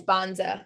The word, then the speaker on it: Banza: I think it's Bonza. Yeah. BANZA, Bonza.